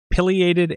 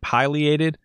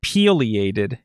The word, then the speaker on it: pileated: But anyway, our final conclusion was that pileated and pileated are both acceptable pronunciations, but pileated is definitely unacceptable. It's a woodpecker, not a banana.